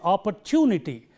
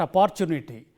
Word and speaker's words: opportunity: So, it is opportunity, not opportunity, and therefore, unique opportunity.